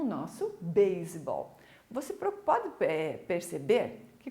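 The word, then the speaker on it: baseball: Você pode perceber que quando eu falo a palavra beisebol, eu continuo pronunciando S. A nossa regra na língua portuguesa de um S que está no meio de duas vogais ter som de Z, na língua inglesa não funciona, certo?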